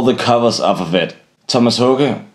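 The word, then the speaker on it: Tomas Haake: Thomas Hoge, as it's pronounced in Danish, sorry, I'm not Swedish, so I'll be pronouncing it in Danish, set a new standard for drummers, which is really apparent up until today.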